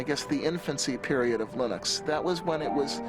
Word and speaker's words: Linux: And I really don't care how people pronounce my name, but Linux is always Linux.